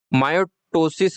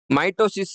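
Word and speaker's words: mitosis: हैं और समसूत्री को मायो मायोटोसिस कह देते हैं या आप जो भी प्रोनाउंसिएशन काम में लेना चाहो ले सकते हैं। माइटोसिस बोल सकते हैं। माइटोसिस सही है। माइटोसिस सही प्रोनाउंसिएशन है।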